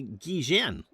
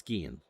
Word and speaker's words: Guillen: And we thought it was going to be Guillen. You pronounce those double L's as kind of a G, but it's Guillen.